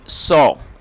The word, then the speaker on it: saw: ही सॉ, देखिए ये सी की सेकंड फॉर्म है और इसको सॉ पढ़ते हैं, कई सारे लोग इसे सा पढ़ते हैं जो कि गलत प्रोनाउंसिएशन है। तो इसे हमें सॉ पढ़ना है, SAW सॉ।